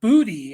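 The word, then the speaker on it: Boutte: Kan Booty or Bouty. Um what a game from Kahan. Um six catches, 103 yards, and zero touchdowns. Uh Kahan Booty is is how you say it.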